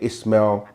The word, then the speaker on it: Ishmael: Which becomes Abraham, and Hagar, who people pronounce like Hajar, Hagar, or Hakare, through their son Ishmael, or they say Ismail or Ishmael.